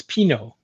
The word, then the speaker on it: Pinot: And they said, no, it's Pinot. So, Pinot, yeah. Pinot. Interesting. What do I know? Like the wine, like the Pinot.